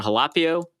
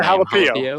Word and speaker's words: Halapio: Then Will Hernandez, and I think John Halapio at center. I don't know how to pronounce that name. Halapio. Yep, Halapio. Okay. Yep. Okay, cool. I almost pronounced it like the fish, tilapia.